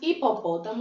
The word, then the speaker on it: hipopótamo: nove fonemas como assim o h ele é mudo ele não possui som então por isso ele não conta certo então quando falamos hipopótamo escrevemos h i mas o h não tem som as outras letras da